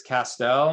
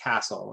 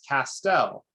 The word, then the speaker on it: Castel: So I'm telling you my last name rhymes with pastel. It's Castel.